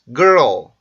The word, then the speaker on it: girl: girl, girl, girl, girl, girl, girl. girl, girl, girl. 네, 이렇게 발음이 되는데 여러분들이 알고 있던 girl 발음과는 많이 다르죠. 이 발음은 R 발음과 L 발음이 연속적으로 나오기 때문에 생기는 좀 특이한 현상인데요.